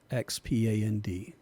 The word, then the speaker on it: Xpand: bundle, and you need another plugin called Expand, spelled with an X, Xpand.